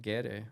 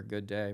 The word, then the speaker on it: Gede: voodoo spirit named uh GD or good day Mr. Good Day or Gede that it's pronounced differently in different places on the pumpkin be road.